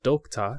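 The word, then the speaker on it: Doekta: One is a book publishing company called Dokta, that's spelled D-O-E-K-T-A-H.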